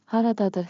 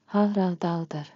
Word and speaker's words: Haradadır: Haradadır harita. Pronunciation beat. Clap with me. Rhythm makes memory sticky. Ha ra da dur. Ta ta ta ta. Haradadır.